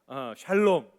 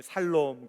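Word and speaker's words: שלום: 발음을 잘해야 돼요. 샬롬, 어떤 놈이 살롬 그랬는데 맞아요.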